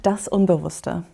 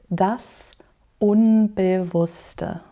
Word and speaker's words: das Unbewusste: We will start with one of the most important words, which is das Unbewusste, the unconscious. I'm going to pronounce it again slowly. Das Unbewusste.